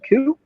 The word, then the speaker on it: Khoe: If you go on YouTube and you search Koo, last name is spelled Khoe.